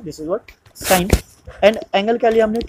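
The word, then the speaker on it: sine: पास जो साइन है साइन का जो म स्पेलिंग है एस आई ए e और इसको हम शॉर्ट में लिखते हैं ऑलवेज दिस इज व्ट सा एस आई ए तो इसको सीन नहीं पढ़ना है दिस इज व्ट साइन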